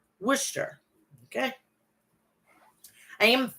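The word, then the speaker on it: Worcester: the DCU Center in wer Massachusetts I said it wrong sorry it's wer some say Wisher Shire I say Wisher okay I am not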